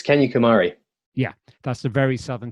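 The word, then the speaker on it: Kanyakumari: very very southern tip it's um can you pronounce it for us where you end your journey uh it's kenya kumari yeah that's the very southern tip where where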